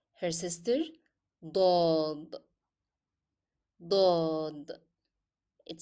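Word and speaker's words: ضاد: Her sister, dod, dod. It sounds like do, do. You can notice here that my pronunciation differ, though in English the letter sound is the same.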